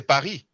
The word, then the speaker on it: Paris: See, in English, you pronounce the S. You say John Charles. But in French, we don't actually pronounce the S. Just like Paris, we say Paris.